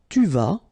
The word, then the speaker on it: tu vas: Tu vas, final S not pronounced.